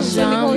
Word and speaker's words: Jamu: Because how- my surname is not Shona, it's Portuguese. So a J is a G. So it's Jamu. Jamu.